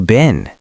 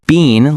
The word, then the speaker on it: been: Some people say it like bean, like a coffee bean, and some say it like bin, like a trash bin. That's a great point, Karis. In American English, we usually say been. It's very short.